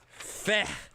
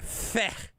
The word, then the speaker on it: feh: He weaponized the word feh, F-E-H, but in sort of the, the kind of like Yiddish almost kind of sound at the end.